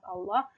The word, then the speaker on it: Allah: Berharokat fathah, maka lafaz jalalah atau lafaz Allah dibaca tebal, tafkhim Allah, fasayarallah, bukan fasayarallah, seperti itu.